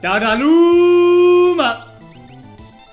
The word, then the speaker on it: Dadaluma: Dadaluma! Yes, you have to say his name like that or you're doing it wrong, so says me.